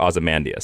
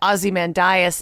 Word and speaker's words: Ozymandias: I prefer Ozymandias. So I've always heard and said Ozymandias, and I think it's the difference between an American and a classically English pronunciation.